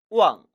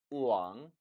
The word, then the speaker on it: 忘: 절대 왕이 아니라 우왕으로 발음함에 주의하시기 바랍니다. 이 단어 역시 둘로 나눌 수 있겠죠. 첫 번째, 이를 망자. 그리고 두 번째, 마음심 받침으로 나눌 수 있습니다. 따라 읽어보시죠. 우왕, 우왕, 신.